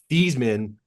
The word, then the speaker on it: Theismann: But I was really stunned to read that the pronunciation of your last name changed while you were at Notre Dame from Theismann to what we now know as Theismann.